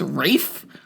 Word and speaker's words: Ralph: It's not Ralph Fiennes or Ray Fiennes. Man. It's Rafe?